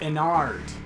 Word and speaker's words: Ennard: It's pronounced Ennard. Gotcha. Alright, well, you know, like Innard's got it.